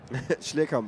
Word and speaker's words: Schlierkamp: Nico Schlierkamp, I can never say his name. Schlierkamp is correct, yeah.